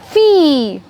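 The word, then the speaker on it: fille: Now, next combination is I-L-L-E. And it has the sound of E. That's it. It's not ill, it's E. Very good. So we have an example, fee.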